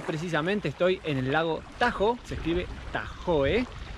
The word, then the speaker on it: Tahoe: Es California más precisamente estoy en el lago Tajo se escribe Tahoe y miren lo que es espectacular